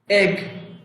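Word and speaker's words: egg: এগ, এগ ডিম। মনে রাখবেন ই অক্ষরটি দিয়ে যদি শব্দ তৈরি হয় তাহলে এই ই এর অর্থ সাধারণত বাংলা এ অক্ষরের মতো হয়।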